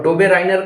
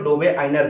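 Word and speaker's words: Döbereiner: डोबे राइनर triads था, ये एक जर्मन केमिस्ट थे, इसलिए इसको जब प्रोनाउंस करते हैं तो डोबे आइनर करते हैं।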